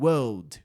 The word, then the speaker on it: world: Ou você fala como os europeus, que é eliminando a letra R. europeus falam world ou você fala como